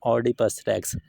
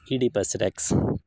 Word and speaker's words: Oedipus Rex: इट इज़ नॉट ऑडिपस रेक्स, इट इज़ इडिपस रेक्स. तो इसकी जो रियल प्रोनाउंसिएशन होगी वो आपकी इडिपस रेक्स होगी.